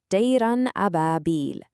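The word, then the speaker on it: طيرا أبابيل: That perfect alignment is telling us to pronounce the N sound clearly and distinctly. You don't hide it, you don't merge it, you just say it. It's followed by a throat letter, the Elif, so the N sound gets pronounced fully.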